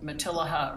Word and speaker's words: Matilija: a i think oh so you say the elves okay i just thought it was like tortilla the way it's spelt you know so i know so it's not it's not uh spanish i used to say it material that was way wrong sounds good though it